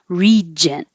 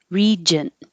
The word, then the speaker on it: regent: This one has to be a j. Looks like a J. G sounds like a J. Regent. Regent.